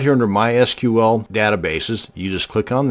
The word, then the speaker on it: MySQL: This video is going to show you how to create a MySQL database. And yes, it's pronounced MySQL, not MySQL.